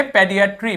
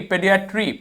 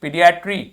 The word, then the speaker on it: पॉडिएट्री: ठीक है, इसको पढ़ना है पीडियाट्री, पीडियाट्री, पीडियाट्री, पीडियाट्री, पॉडिएट्री। ठीक है, पॉडिएट्री नॉट पीडियाट्री, पॉडिएट्री। ठीक है, जो भी वाउल है उसका साउंड हल्का सा प्रोनाउंस करना है।